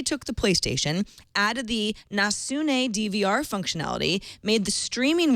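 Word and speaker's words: nasne: the Japanese market now it's called n nasun he actually phonetically spelled it for me thank you n a s n e nasun as in Neptune a network digital video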